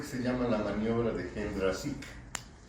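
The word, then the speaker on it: Jendrassik: llama la maniobra de Hendrasik. Les estamos diciendo en español, aun cuando ellos pronuncian de otra manera, Hendrasik. Pero mejor para que lo podamos entender es Hendrasik.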